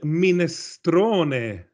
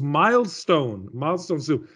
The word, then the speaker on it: minestrone: i said oh wait do you mean ministrone ministrone and she said oh oh yes yes yeah if you pronounce it like that but what she said was was milestone master and of course what